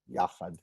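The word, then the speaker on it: יחד: to dwell, shevet, gam, yachad, together. Notice, yachad is not yachad. It's the stress is on the first syllable, not the second.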